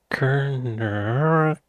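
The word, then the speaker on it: Kernewek: Cornish, pronounced Kerner, is a southwestern Brittonic language of the Celtic language family, along with Welsh and Breton.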